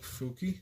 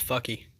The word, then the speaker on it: Fuki: We have Tempest Stealth Rogue Fuki. You said it wrong. It's fucky.